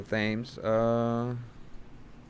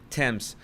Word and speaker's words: Thames: A double rainbow of the River Thames.